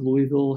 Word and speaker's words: Louisville: more about what the University of Louisville has to offer DP thank you so much